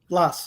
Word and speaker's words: Blas: How do you pronounce it? Blas.